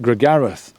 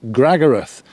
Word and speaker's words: Gragareth: Although I pronounce it Gregareth, Uncle Pete pronounces it Gragareth. So I'm not sure which is the right pronunciation there.